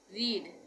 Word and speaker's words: read: रीड, रीड का मतलब पढ़ना, रीड रेड रेड रीडिंग। यहाँ पे स्पेलिंग सेम होगी पर उच्चारण अलग हो जाएगा, यानी प्रोनाउंसिएशन चेंज हो जाएगा सेकंड और थर्ड फॉर्म में।